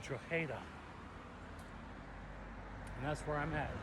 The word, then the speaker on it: Drogheda: He said the G is silent. And he said it's Drogheda.